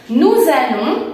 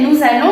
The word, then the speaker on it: nous allons: Acuérdate aquí que nous allons, igual que vous allez, tenemos la liaison, por eso suena como z, nous allons.